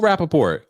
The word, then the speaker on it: Rappaport: I'm trying to sound, I don't know how to pronounce his name. No, you just did it. Michael Rappaport.